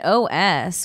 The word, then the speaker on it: Oss: It's spelled OSS. Os. Os.